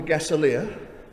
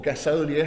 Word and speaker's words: gasolier: Okay, so what we have here, which is very interesting, this is all lit by gas, and it's called a gaselier, or gasolier, however you want to pronounce it, and it's allegedly either one of the last or the last functioning gasoliers in the country.